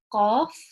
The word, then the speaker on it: ق: more aware of, and it's normally in transliterations it's more referred to as the Q, but it's really a heavier version of the Q.